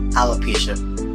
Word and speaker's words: alopecia: i can see why he did that though alopecia because i mean i said it right correct alopecia i think that's what she has but i